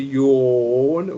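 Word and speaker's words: jaune: It's like when you're yawning.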